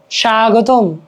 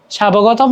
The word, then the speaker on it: স্বাগতম: বটা উচ্চারণ হচ্ছে না স্বাগতম সাবগতম তো বলে না রাইট স্বাগতম এখানে কিন্তু ব আছে কিন্তু উচ্চারণ হচ্ছে না শব্দের মধ্যে কিংবা শেষে